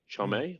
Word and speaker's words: Chalamet: Mm, Chalamet, that's how you say it, sure.